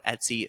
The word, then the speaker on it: Etsy: have been selling on Etsy since 2010 what I got started in 2010 on Etsy and I used to pronounce it EA I couldn't even pronounce it right but I was selling